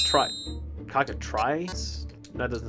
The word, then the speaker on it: cockatrice: Cockatrice? That doesn't sound right. Try. Cockatrice. No, cockatrice. Yeah, tree. It's even though it's not like T-R-E-E.